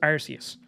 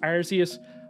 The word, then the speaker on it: Arceus: And it actually is apparently officially pronounced Arceus, but then Pokemon Company changed it because arse in like England and Ireland means arse, like an ass. So they changed it to Arceus.